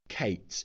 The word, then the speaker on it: K8s: moving on is that you'll often see Kubernetes shortened to this K8S, which we normally pronounce as Kates. The idea being that the number eight here replaces the eight characters between the leading K and the trailing S.